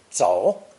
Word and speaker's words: 走: This ideogram is pronounced third tone, 走, 走, and means to run, rush, leave, or simply to walk, depending on the context.